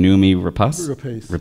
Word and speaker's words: Noomi Rapace: toel McAdams and numi help me with the pronunciation numi rapas I was uh talking to another director who